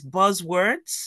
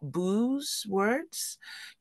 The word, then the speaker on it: buzzwords: You mispronounce some words, so it's elicit, not elicitate. Is buzzwords, not booze words.